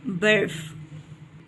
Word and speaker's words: برف: ہے۔ پہلا لفظ ہے برف. بے کے اوپر زبر، رے اور فے دونوں ساکن ہیں.